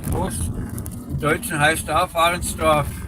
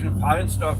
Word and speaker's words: Varnsdorf: In German it's Warnsdorf, right? In Germany it's Warnsdorf with a W and in Czech Varnsdorf with a V. That's the only difference.